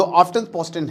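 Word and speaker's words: Aftenposten: लेकिन जो आफ्टन पोस्टेन है इनका जो पेपर है भैया देखो T silent, S tie silent अजीबोगरीब नाम होते हैं नोडिक देशों के।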